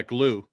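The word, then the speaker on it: Gloo: gl glow g-l-o-o yeah glue is is actually how they pronounce it okay but it's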